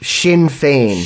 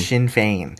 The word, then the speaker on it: Sinn Féin: The pronunciation of the IRA's political arm is Sinn Féin. Sinn Féin.